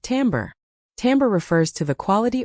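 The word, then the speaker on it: timbre: That's spelled tbr and it's pronounced tambber.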